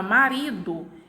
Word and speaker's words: marido: Já na palavra marido, eu tenho a minha última sílaba do, né? Pronunciada com menos intensidade.